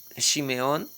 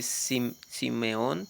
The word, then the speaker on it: Shimeón: Encontramos también a Shimeón, no se dice Simeón, sino Simeón. Eh, en fin.